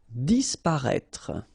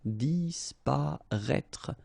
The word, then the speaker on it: disparaître: Disparaître, okay? So remember that we've got this accent circonflexe on the top of I, but then phonetically we don't pronounce it, so we get disparaître, disparaître.